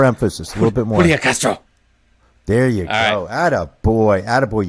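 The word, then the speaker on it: Julián: Julian Castro.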